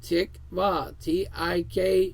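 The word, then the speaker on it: תקווה: Hope, H8615, tikva, pronounced tikva, Tikvaw, meaning expectation, to live, what we are longing for, right?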